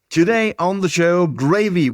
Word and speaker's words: Graeve: Graeve is my last name, and it's pronounced just like the sauce.